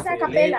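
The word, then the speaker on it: a cappella: No, se escribe a capella, pero es a capella.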